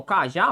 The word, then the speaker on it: cajá: Bom, cajá, olha aí o cajá. Ó. Cajá, cajá. A sílaba tônica é o quê? Oxítona. Terminada em quem, hein? Terminada em A. Por isso que ela recebe a acentuação.